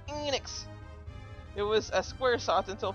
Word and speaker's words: Enix: It's pronounced Enix.